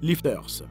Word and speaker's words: LFTR: Les réacteurs à fluor de thorium liquide, ou LFTR, pronounced lifters.